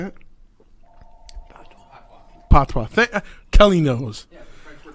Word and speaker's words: patois: Patois.